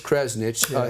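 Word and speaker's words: Krzanich: what I love to see the CEO mica pronounce his last name correctly Brian it's Kresnik he sold eight hundred and eighty nine thousand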